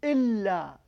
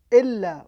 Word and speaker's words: إلا: The negative is إلا. إلا with the shadda.